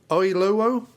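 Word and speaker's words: Oyelowo: Uh he's played by David Oilo. Oilo. Oh, I know. That's how you pronounce it.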